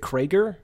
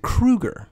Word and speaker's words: Kroeger: called Alberta more importantly it is not Chad Kroeger is it Creager no oh that's a great guess Creager would be the appropriate way to say it but no he pronounces it Kreuger okay I hate this